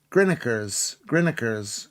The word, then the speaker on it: Greenacres: Double, how do you, in Bolton is pronounced double, dauble, double, and Greenacres in Oldham is Grinnikers.